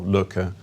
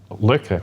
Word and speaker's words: Lykke: which is underlying your new company like or looker how do you pronounce it actually looker looker um so let's say that does happen